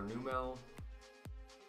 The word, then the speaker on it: Numel: Another Numel, or Numel, depending on how people pronounce it.